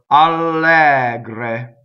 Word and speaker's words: allegre: So, allegre, right? So the first E is open, the second one is closed.